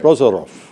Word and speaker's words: Prozorov: Is it Prozarov? Did I pronounce it right? It's right. Prozarov.